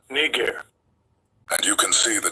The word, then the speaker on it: Niger: Now the way English works n I g is pronounced niger. But let's listen to how the word is pronounced in the Greek language that it was written in Strongs G3526 narr as you guys can see the prophet Barnabas was called nger and you can see